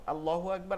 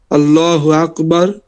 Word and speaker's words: আল্লাহ: বলেন জি আলহামদুলিল্লাহ বলেন আল্লাহ শব্দের লামকে দুই ভাবে পড়া যায় প্রথমত তাসজিদিদের ডান পাশে জবর অথবা ফেস থাকলে ল উচ্চারণ হয় অর্থাৎ লামটা লামটা ফুর বা মোটা মোটা উচ্চারণ হয় ঠিক আছে লামটা মোটা অথবা ফুর অথবা মোটা উচ্চারণ হয় যেমন আল্লাহু আকবার তারপরে আস্তাগফিরুল্লাহ তারপর রাসুলুল্লাহ আর আল্লাহ শব্দের বারিকটা বলেন আর আল্লাহ শব্দের আল্লাহ শব্দের ডানে অর্থাৎ তাজ্জিদের ডানে জের থাকলে বারিক বা চিকন বা পাতলা উচ্চারণ হয় যেমন বিসমিল্লাহির লিল্লাহির